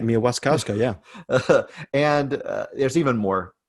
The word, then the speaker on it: Mia Wasikowska: you said it right, Mia Wasikowska.